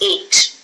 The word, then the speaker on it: ate: Now, a lot of uh you know, I've seen a lot of students, you know, the pronunciation of eight. It's eight.